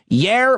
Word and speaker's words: Jair: Jair Bolsonaro, I think you pronounce the J as a Y, says no matter what, he is not getting the vaccine.